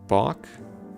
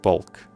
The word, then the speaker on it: balk: How do you pronounce that word? Balk? Or is it bulk?